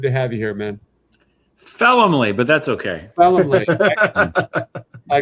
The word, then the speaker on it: Felumlee: Felumlee, but that's okay. Felumlee. I gotta like write some notes down on pronunciation.